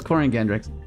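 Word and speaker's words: Quariongandrax: A lot of people couldn't pronounce that. It was Corian Gandrax.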